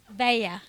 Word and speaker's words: Bea: So, Bay, we want you to... Is it Bay, by the way, Mike? Bea. Bea, okay. You pronounce all the letters.